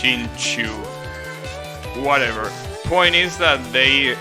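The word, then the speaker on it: Xingqiu: Yeah, especially if you're planning on leveling Shinkyu. Well, I think his name is pronounced Shinchu.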